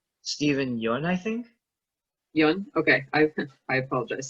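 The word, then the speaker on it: Steven Yeun: seeing that stephen i you have the correct pronunciation is it you n stephen young i think okay i apologize steven yun um if he got nominated in best actor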